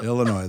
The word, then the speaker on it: Illinois: the yes or without pretend the S isn't there yeah Illinois there's no ass all right there's no s she's practicing in Illinois